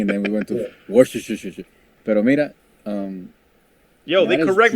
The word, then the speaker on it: Worcester: Let's just go Worcester. I'm like, how? you just added a bunch of syllables to that shit, It's bro. called Worcester.